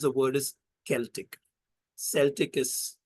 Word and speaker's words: Celtic: the word is Celtic Celtic is how most people pronounce it Celtic is the right way to say it and that's largely from